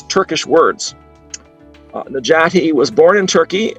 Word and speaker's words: Necati: to introduce our speaker najati al khan and you'll note that the c there in his first name is pronounced like a j that's the standard pronunciation